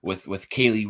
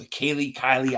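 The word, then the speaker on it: Kelee: And then I just really think that the day 3 of the draft, the way it started with Kaylee Ringo, it's Kylie. I always say it wrong.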